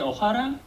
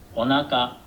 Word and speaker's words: お腹: 全然全然お腹 What did you just say, ohara? That's not even correct pronunciation. It's onaka.